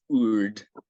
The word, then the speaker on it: Urd: Oh, because I said Erd, it's Urd.